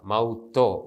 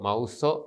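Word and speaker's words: ܡܘܬܐ: അതുപോലെ തന്നെ സ്വരമില്ലാത്ത അക്ഷരത്തിന് ശേഷം വരുന്ന താവ് തോ കഠിനമായിട്ടാണ് ഉച്ചരിക്കുക. മൗത്തോ, മൗസോ എന്ന് ഉച്ചരിക്കുകയില്ല.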